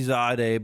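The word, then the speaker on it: Zaude: Sodia, Witcher, were you able to withstand Zod's attacks? Yeah, when they remastered the game, they changed the pronunciation of some words. It used to be Zade, but now it's The Zod.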